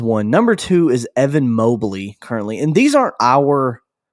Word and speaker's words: Mobley: wagner's name incorrectly and you just pronounced him mobbly and then mowbly and so i'm gonna did i say mobbly you did when you first introduced him so which is it it's evan mobley and i'm gonna be